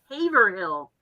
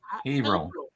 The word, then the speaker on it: Haverhill: Pronounced so it rhymes with wave. For real? Haverhill. Oh, it's Haverhill.